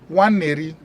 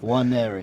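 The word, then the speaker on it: Nwaneri: Waneri, that's how his name is pronounced. Waneri. Waneri.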